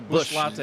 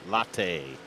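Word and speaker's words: Busch Latte: Oh, Bush Latte. Latte. That's right. Latte.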